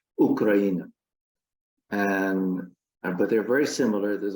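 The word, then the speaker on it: Україна: And you see that these two, first of all, they're both pronounced the same way. They both are pronounced Ukraina.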